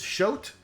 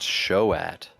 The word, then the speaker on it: Shoat: cure magic in them it's pronounced shoat oh excuse me everybody's got different pronunciations for uh for different stuff because uh this was